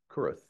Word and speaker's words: Kurth: Ricky I think it's last name is pronounced kth Kurth yep and uh yeah you